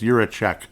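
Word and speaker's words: Jiříček: At first I was like, Jiricek, or Jura this, or Jura... No, yeah, it's Jiricek.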